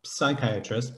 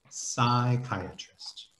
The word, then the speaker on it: psychiatrist: kai uh trist okay i know there's a ps there but the p is totally silent the p does not uh is not pronounced at all so it's not psychiatrist but it's just psychiatrist okay all right good